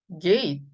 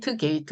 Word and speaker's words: gate: 트 발음을 하긴 하시되 약하게 하셔야 돼요. 마지막에 오는 T는 소리를 크게 내지 않는다. 뭐 앞 받침으로 가서 gate 이렇게 하셔도 되고 트 발음이 걸리신다면 이렇게 gate 이렇게 입 안에서만 살짝 나는 정도로 gate 이것입니다. 자, 그런데 우리 한국에서는 주로 게이트 많이 하기 때문에 제가 트까지 한번 써봤는데요. 사실은 T 발음 잘 안 합니다.